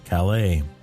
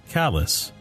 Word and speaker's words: Calais: manners don't pronounce it Calais they've pronounced it callus like I've been chopping firewood all day and now I have a callus on my hand I would travel corner